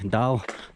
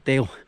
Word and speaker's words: Dale: And not call me Dal, Dali, Dalowawwawa, something not resembling Dale.